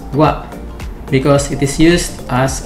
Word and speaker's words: は: Take note that this particle is the character ha from the hiragana chart, but it is read as wa, because it is used as a particle.